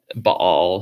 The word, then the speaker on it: Bel: Their main god was Bel. Baal, sometimes it's pronounced that way.